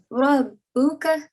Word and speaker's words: Rabbuka: And over here as well, when ra, the letter ra is carrying a fatha, you have to pronounce it in a thick sound, right? Yeah. So, Rabbuka.